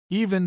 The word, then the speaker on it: even: In the same class of errors is that of making an extra syllable in such words as even seven heaven 11 and given where properly the e is elided leaving he and so forth.